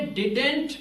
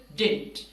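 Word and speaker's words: didn't: runt डिंट अब देखिए इसको आपने डिडेंट प्रोनाउंस नहीं करना सेकंड डी साइलेंट होगा this is डिंट डिंट basically use होता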